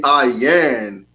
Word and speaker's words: ayin: really an eye right it should be ayan not a yeah and you know they